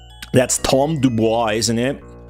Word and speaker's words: Dubois: That's Tom Dubois, isn't it? Dubo, whatever the he pronounces it. That's like a French name. Supposed to be Dubois. Um, he did all the